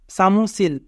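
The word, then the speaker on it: 사무실: সিউত প্রথমে থাকলে দন্ত স আ সা, মিউ মধ্যে থাকলে ম, উ রাসু মু, সিউত মাঝে থাকলে দন্ত স, ই রাসি সি, রিউল নিচে থাকলে ল। সামুসিল, সামুসিল মানে অফিস।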